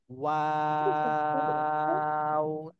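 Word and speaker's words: واو: ওয়াও।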